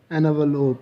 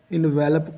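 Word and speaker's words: envelope: एनवलोप, इसके आप spelling देखें, इसको एनवलोप पढ़ेंगे, इसका मानी लिफाफा होता है। अक्सर हमारे लोग इनवेलप पढ़ते हैं, जो कि गलत है।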